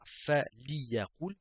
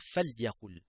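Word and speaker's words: فليقل: On va pas dire fa liyaqul, on va dire fal yaqul. C'est plus facile.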